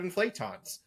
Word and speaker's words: inflaton: They don't want to talk about inflatons.